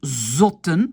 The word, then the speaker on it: zotten: Je prononce pot, zot, pluriel zotten, hein, ça ne change pas parce que j'ai deux T. Hein, parce que quand je sépare, voilà, la syllabe est protégée par T, donc ça reste un O.